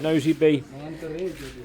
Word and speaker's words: Nosy Be: It It sounds to me like Nosy Bee. It's pronounced Nosy Bee. It sounds like Nosy Bee.